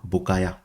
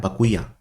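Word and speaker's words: Bacuya: the name of that Rhino buaya not buaya bakuya b a c u y a bakuya you pronounce it as bakuya not buaya bakuya so bakuya is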